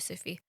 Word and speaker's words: Sufi: Is that how you say it, Sufi?